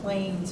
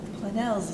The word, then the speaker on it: Planells: They call it Planells or Plains, or, and it's like Planells, it's a Spanish, French, it's from the Pyrenees Mountains.